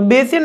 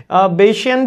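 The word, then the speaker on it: Bayesian: network बेसिन network मतलब different different pronunciation है बशियन भी बोल सकते हैं बायन नेटवर्क भी बोल सकते हैं बायन नेटवर्क यूजुअली प्रोफेसर इसके प्रोनाउंस में यूज करते हैं तो ये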